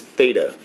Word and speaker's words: Theta: so this is all fairly fairly simple the harder one here is Theta the way you say this is Theta spell it for you